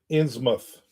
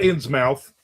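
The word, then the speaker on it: Innsmouth: Like Plymouth Plymouth. Ensmoth not insmouth.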